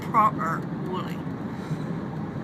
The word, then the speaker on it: Proper Woolly: guys for you to go at home, Proper Woolly. Even with the turn of the mouth there, like that. That's how you say it here in Devon.